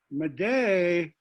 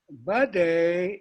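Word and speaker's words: Bdote: come up but uh maday was the missionary pronunciation of of uh of lake okay uh budday is the dakota reference as developed by uh dakota scholars and and used by the university of minnesota dakota studies program and and and being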